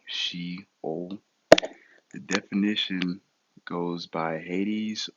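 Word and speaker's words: Sheol: and is H7 585 the transliteration is going to be shol and the pronunciation is literal she o the definition goes by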